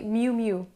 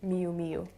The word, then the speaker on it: Miu Miu: italian one miyu miyu it's not really miyu miu it should be mu mu so it's like one syllable it's not me u it's mu to make it easier kind of it's like pronouncing the word new but with an m in front instead of an n so mu mu and not miu miu the next one is